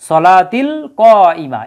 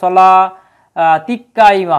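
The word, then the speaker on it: الصلاة القائمة: তাহলে এই জায়গায় আবার এই যে এই কফের পূর্বে আলিফ লামের উচ্চারণ হয়, কারণ এটা হচ্ছে কফটা হচ্ছে আল হুরুফুল কমারিয়াত, এই কফ দিয়েই কমারিয়াত, হ্যাঁ, যে চন্দ্রাক্ষর, এই চন্দ্রাক্ষর থাকার কারণে কিন্তু এই কফের উচ্চারণ, আলিফ লামের উচ্চারণ হচ্ছে। এই যে সলাতিল কাইমা, এই জায়গায় কিন্তু সলা তিক্কাইমা হয় নাই, যেমন এটা ছিল সলাদ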